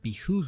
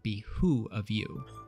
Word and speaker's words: behoove: When giving direction, a drill instructor may remind recruits that it would behoove you to listen closely, which is also frequently mispronounced or typed in written orders as it would be who of you.